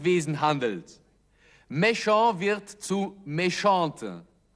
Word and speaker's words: méchante: Méchant wird zu méchante. Ein E wird angefügt und dadurch wird auch das T ausgesprochen. Elle a été méchante, aber il a été méchant.